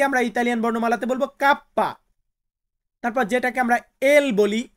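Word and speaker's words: kappa: কে, কাপ্পা। কাপ্পা মানে কে কে আমরা Italian বর্ণমালাতে বলবো কাপ্পা।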